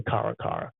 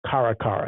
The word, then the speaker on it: Caracara: that caracara akarakara I I'm gonna say karakara because it's spelled like um Irene Cara's name so karakara that's what I'm gonna